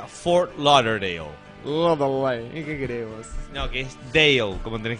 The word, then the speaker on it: Fort Lauderdale: Burger King For l no no l no Fort luderdale no for l tengo es Fort Lauderdale laudale pero se pronuncia Fort Lauderdale no que esale como ten que terminar carito